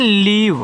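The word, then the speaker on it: leave: एल इ ए वी ई इसको पढ़ते हैं लीव यानी कि एल से आपका ल और ए है तो बड़ी ई की मात्रा वी से आपका व लास्ट में जो इ आता है उसका उच्चारण नहीं करते हैं लीव अब लीव का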